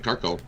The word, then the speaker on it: Carcone: I'm saying it right. Carcone. Carcone. Been ripping it up for the Coyotes, and almost 3 times your money on him to get another goal.